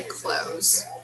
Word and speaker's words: clothes: this word is tricky we don't pronounce the s and we don't pronounce the th either we just say close as if close the door okay so why are your clothes soaking wet so can